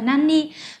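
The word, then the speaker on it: 何: Kanji của nó nhé Nó có hai cách đọc và Nam là Nani và với cách độc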